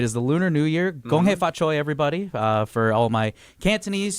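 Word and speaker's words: 恭喜發財: Gong hei fa choi, everybody. For all my Cantonese speakers, for my Mandarin, gong xi fa chai.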